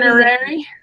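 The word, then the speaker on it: Learnuary: Learnerary. It's like January with the learn at the beginning instead of the Jan.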